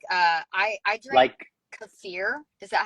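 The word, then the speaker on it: kefir: raw um milk so I just buy uh cfir is how you say the K you know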